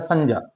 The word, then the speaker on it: संज्ञा: देखिए वैसे इस शब्द का सही उच्चारण है संज्ञा। क्या है? संज्ञा। लेकिन हम लंबे समय से अभ्यास में बोल रहे हैं संज्ञा, तो अब हम इसको संज्ञा ही बोल देते हैं, क्योंकि एक दिन में हमारा जो उच्चारण है वो सुधरने वाला नहीं है। तो ये शब्द तो संज्ञा है। क्यों? कि ये जे और ये का मेल है।